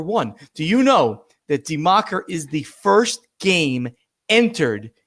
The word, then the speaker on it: Die Macher: You ready to talk a little bit about Die Macher? Said it right? Die Macher. That's right. Die Macher.